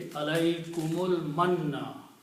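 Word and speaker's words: عليكم المن: Combine mim with the lam, so alaykumul. Okay. And that's the reason this alif becomes hamzatul wasal, and we change this little swad sign. We put a little swad on it. Now it is not alif anymore. That should be read or recited. Okay. So the pronunciation will be alaykumul manna.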